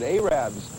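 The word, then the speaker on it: arabber: farms of sorts these people are known as arabs that's the way they pronounce it arabs and what they do is they sell fresh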